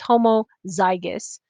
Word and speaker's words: homozygous: they're different oh i didn't put a little pronunciation thing there but it's homozygous heterozygous and you may recognize this homo hetero